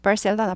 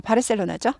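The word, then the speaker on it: Barcelona: 안 보이네요 in barca 바셀로나 바르셀로나 바셀로나 그래서 바르셀로나 그럼 잘 못 알아들어요 영어 식으로 꼭 발음해야 돼요 바셀로나 바셀로나 아래 있으니까 부리죠 바셀 아니고 셀 이죠 바셀로나 바셀로나 바셀로나 바셀로나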